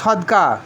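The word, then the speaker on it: صدق: স্বেচ্ছায় দানকে বলা হয় সদকা। যেমন সোয়া দাল কাপ, নারামাতা আরবি সোয়া দাল কাপ থেকে সদকা এসেছে। এই উচ্চারণটা সঠিক হবে সিদ্ক।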